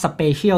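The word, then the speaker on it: Spatial: ของ ผลิตภัณฑ์ เขา ออก เสียง เรียก เขา ว่า Special ที่ ไป ว่า พิเศษ เนี่ย ครับ แล้ว แต่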